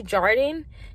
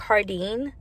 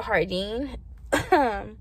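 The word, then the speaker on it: Jardin: to planet 13 or i say jordan because it's spelled j-a-r-d-i-n but it's really like hardine so you can go to hardine or you can go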